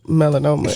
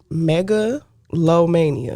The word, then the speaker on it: Megalomania: out because I I was calling your project melanoma and that's not the name of it great music by the way I appreciate it I just was mispronouncing it so it's called Mega low Mania that's right that's right how did you come